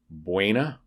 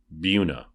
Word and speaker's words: Buena: have another town that's in spanish which has rules of pronunciation should be buena but it's pronounced buna it happens so it